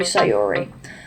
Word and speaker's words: Sayori: Oh my god, bro, it's Sayori. That's how you pronounce her name.